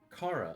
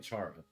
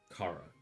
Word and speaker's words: Chara: and the Heart Locket which uh belonged to Cara. I guess her name or that that the first child's name is pronounced Cara. At least that's how I hear everyone. I I was saying Charara.